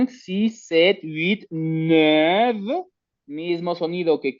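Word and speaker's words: sept: Entonces tenemos el seis, luego tenemos el siete, sis, digo sis set. La T normalmente al final no suena, pero aquí sí suena.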